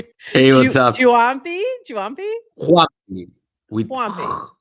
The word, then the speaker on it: Juampi: Let's bring our friend up here from Talent Protocol who can tell us exactly how to pronounce his name. Hey, what's up? Juampi? Juampi. With Juampi, like a Juampi.